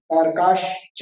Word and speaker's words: तारकाश्च: ज्योतिष का सूर्या चंद्रमसो ग्रह नक्षत्र प्रकीर्णक तारकाश्च, ना श पे रुक के फिर च अलग से बोलना, तारकाश्च, तो सही उच्चारण हो जाएगा।